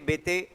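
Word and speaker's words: Béteille: है ठीक है ना कुछ जगह बते ही लिखा होगा ठीक है वो स्पेलिंग जब देखोगे तो टोटली डिफरेंट है वो हां आंद्रे बते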